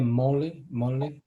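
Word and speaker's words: मौलि: Mauli means, is that the right pronunciation, Maharaj? Yeah, Mauli.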